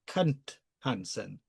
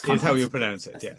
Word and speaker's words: Knut Hamsun: correct your uh He is, of course, called Knut Hamsun. Ah, yes. Knut Hamsun.